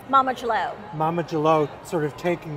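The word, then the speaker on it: Mama D'Leau: Mama Jalo.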